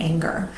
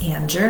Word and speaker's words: Anger: a practice in releasing anger. And it's funny, my last name is Anger, not Anger, but it's spelled like anger.